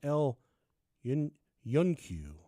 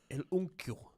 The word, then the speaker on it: El Yunque: The outbreak hit a fever pitch in August of '95 in Canovanas, a town just east of San Juan near El Yunque.